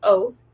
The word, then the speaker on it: OTH: So I went on ChatGPT and I said, OTH, Online Tutor House, pronounced oath, is the promise of progress.